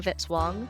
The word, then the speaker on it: Vitzwong: Music by Kevin Vitzwong rhymes with hit song.